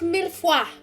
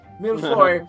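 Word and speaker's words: mille-feuille: It's pronounced millefoy. Milfoy.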